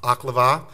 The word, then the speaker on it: Oklevueha: For Your Honor's information, it's pronounced Oklevueha.